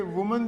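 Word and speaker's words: women: तो एक चीज और देखिए, वुमन जो है उसका प्लूरल विमन प्रोनाउंसिएट होगा, विमन।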